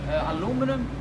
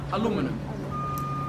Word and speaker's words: aluminium: So UK, aluminium. And US and Canada, aluminum. Australia, how do you say it? Which are they weaker? The UK? Yeah. But which one is more correct, or both commonly used? And Both. yeah, They're both correct.